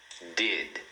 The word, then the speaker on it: did: E no finalzinho também você procura não puxar esse i.